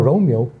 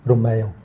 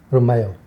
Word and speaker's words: Romeo: Now, Romeo is the Anglicized pronunciation. Mhm. It's actually Romeo. Oh. Romeo.